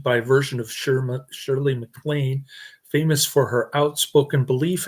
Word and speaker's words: MacLaine: Shirley MacLaine, like Big Mac.